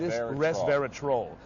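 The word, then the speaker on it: resveratrol: that's how you know got to pronounce it right like a troll under the bridge res res verat troll this troll oops I've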